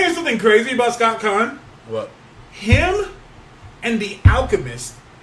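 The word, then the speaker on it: Caan: It's pronounced like Khan. You want to hear something crazy about Scott Khan?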